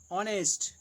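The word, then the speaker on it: honest: प्रयोग होता है जैसे जिन शब्दों में एच साइलेंट रहता है उनसे पहले एन का प्रयोग होता है जैसे an hour an ऑनेस्ट मैन एंड आवर एन ऑनेस्ट मैन न ऑन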